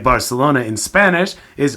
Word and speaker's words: Barcelona: get too linguistic but the letter C in between two vowels which in English is pronounced like an S like Barcelona in Spanish is Barcelona they put their teeth